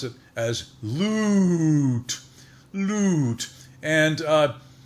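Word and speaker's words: LUUUTT: but you'll not forget it because you just pronounce it as loot loot and it's very strange but each letter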